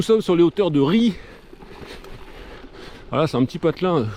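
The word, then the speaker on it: Ry: s'appelait le village ça ça sécrit r y et ben on dit ri voilà tout simplement comm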